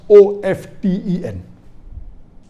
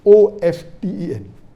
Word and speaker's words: often: Some will say often, some will say often. Previously it was often, then it became often. Now new people are saying no, often is correct. T is not silent, it should be pronounced. Some say T is silent, and then there's a big debate for that.